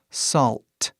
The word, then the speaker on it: salt: A palavra aqui embaixo, salt. Aí você faz o mesmo som, sal, só que coloca um T no final. Salt. Faz esse T bem claro.